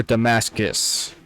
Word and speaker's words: Damascus: Is it Damask or Damascus? Damascus is the anglicized version. Okay, so it's the anglicized version is Damascus, but the proper version is Damask? I believe so, yeah.